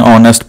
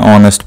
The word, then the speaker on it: honest: Similarly, we say an honest person. The initial sound that H is silent, the sound is O, O sound, and we say an honest person.